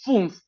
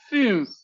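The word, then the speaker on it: fünf: Por eso el número cinco no es fumf, por eso es funf. Boca de u. Cerradito, chiquito. Y pronuncia una i. U. U. Así tienes el cinco. Funf. Que no es fiunf. No es fuf.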